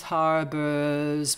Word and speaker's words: harbors: a couple of times Harbors breast which uh interestingly it's not either boar or a bar but with a kind of nice schwa color um there's a interesting